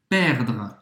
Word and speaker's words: perdre: A gente inverte o R com o E. E aqui o E no francês ele não vai ser pronunciado, tá? Ele é realmente ultra discreto. Então, termina a tua pronúncia no R, perdre.